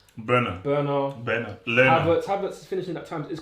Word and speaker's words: Bernard: of, by the way, I'm not saying it wrong. His name is Bernard. Bernard.